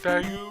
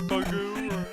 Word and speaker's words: Bagu: But first, you have to get the a letter from a guy named Bagu, or Bagu, or I don't know how to pronounce it.